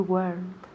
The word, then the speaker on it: weren't: So, weren't solo tiene una sílaba, por favor. So, please, por favor, please. No me digáis weren't. Weren't? No, muy mal, muy mal. So, no me digáis weren't, ni weren't, ni weren't, ni nada de eso. Weren't. Una sílaba, por favor. Weren't. Weren't. And hay que oír la T al final de la palabra.